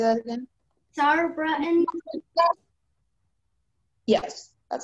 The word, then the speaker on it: Sauerbraten: Is there any alternative pronunciations? Yes. There is Sauerbraten, and Zauerbraten.